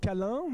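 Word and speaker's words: Câlin: So I guess this team should be pronounced Calin, like cuddles, from ENS Lyon.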